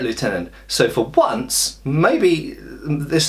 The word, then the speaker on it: Lieutenant: and that you know if we spell it Lieutenant we should say it Lieutenant so for once maybe